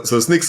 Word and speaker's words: Snyk: We'll sneak data out, and but we'll spell it with Y like the cool kids do. And so SNYK.